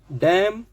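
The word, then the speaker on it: damn: एम के बाद अगर एन आता है, एम एन का कॉम्बिनेशन बनता है, तो ऑल टाइम आपको एम बोलना है, एन का प्रोनाउंसिएशन नहीं देना है। ऑटम, कॉलम, कंडेम, डैम, हैम, इस तरीके से देखिए हो गया।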